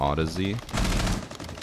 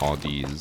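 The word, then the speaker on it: Audeze: It's supposed to be pronounced like Odyssey, but Odyssey. I kept calling it Audi's cuz I thought that's what it was.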